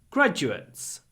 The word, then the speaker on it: graduates: usually get higher salaries graduates graduates the stress is at the beginning the du is pronounced a bit like a j graduates gr graduates University